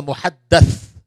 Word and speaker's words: muhaddath: One is a muhaddith and one is a muhaddath. What is the difference? Of course, the pronunciation is different.